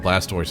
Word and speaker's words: Blastoise: Yeah, Blastoise always makes a good puzzle opponent. So far 100% of the puzzles contain Blastoise. Yeah. Or to use the French the French pronunciation, Blastois.